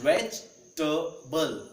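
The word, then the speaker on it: vegetable: pronunciation of that word also वेजिटेबल वेजिटेबल इट्स वेजबल वेजिटेबल इट्स नॉट वेजिटेबल इट्स वेजिटेबल it's comfortable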